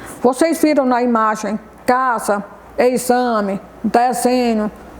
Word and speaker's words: exame: uma pessoa fazendo um exame, né? Exame é com X. Mas quando a gente pronuncia, né, dá um outro som de uma outra letra, né? Um Z.